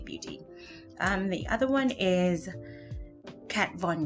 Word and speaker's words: Kat Von: name of the brand, is Kat Von, which is from in German, the devil. That's kind of how it's said for me. It's said as if it's cat from the devil.